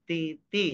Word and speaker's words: TT: Dibacanya T ti ya teman-teman ya. Pakai bahasa Inggris, jangan pakai bahasa Indonesia ee ngejanya ya.